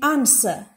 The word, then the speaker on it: answer: In answer, W is silent. R is also silent.